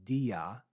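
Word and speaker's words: δι': in a Greek Lexicon diaa but the alpha has been dropped from pronunciation and marked with an apostrophe because the next word starts with the a sound so rather than saying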